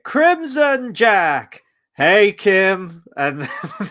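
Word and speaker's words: Kh'ym: IM and oh no it's spelled star warsy but it's pronounced Kim no it's k i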